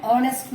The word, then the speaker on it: honest: பட் இங்கே ஹெச்ன்ற இடத்துல நம்ம எப்படி and யூஸ் பண்ணுவோம் அப்படின்னா here the H is silent. ஸோ this is also a exceptional case. இதை நம்ம சொல்லும் போது an hour அப்படி சொல்ல மாட்டோம். an hour, an honest man, an honorable person.